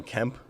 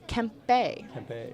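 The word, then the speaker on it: Kempe: Kings my favorite team like Adrian Kemp actually you know I thought for the longest time this can't be but it's actually Kemp Bay campaign I don't know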